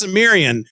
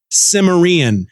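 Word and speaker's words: Cimmerian: read by Todd McLaren who doesn't know how to pronounce samiran which drove me crazy throughout this entire audio book which I'm not quite done yet he pronounces it simaran hither came Conan the simaran and apparently there's two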